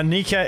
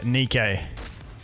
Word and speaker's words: Nikke: game never seen it before it's called Uh Nika it's called the way they phrase it I've always said it wrong it's called goddess of Victory Nikkei it's um it's a physics game and besides